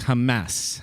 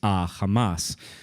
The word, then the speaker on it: Hamas: on the news um in Arabic it's Hamas Hamas the a sound is is common in Arabic uh in Hebrew there is no a sound it's ah Hamas which um to an Israeli sounds exactly like the Biblical word that means violence it comes up for